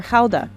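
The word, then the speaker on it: Gouda: a year more than half of it is guda or Hala as it's pronounced here Fran ctin is a Seventh Generation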